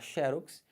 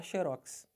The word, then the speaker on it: xerox: prosóide Você pode falar xerox Mas se você quiser você pode falar xerox Os dois estão corretos xerox ou xerox